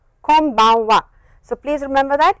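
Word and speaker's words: こんばんは: of course n but the way it is pronounced is press your lips like this close your lips and it is an M sound so please come bonne voie konbanwa konbanwa so please remember that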